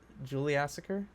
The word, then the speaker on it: Juliassacre: I mean, like I'm that's adding an like that extra is the two syllable. parts of it. Yeah, Yeah, true. Ju- Juliassacre.